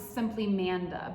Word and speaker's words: SMPLYMANDA: today's bit of tea is by, I'm gonna pronounce this simply Manda, but it's SMPLYMANDA.